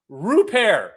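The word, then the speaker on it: Rupert: Ryan Rupair, who I checked how to say his last name.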